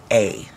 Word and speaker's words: Dymphna: This is Saint Dymphna. How do you say that? Dymphna. What kind of a name? Dymphna.